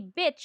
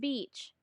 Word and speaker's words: beach: And sometimes we even say bitch instead of beach.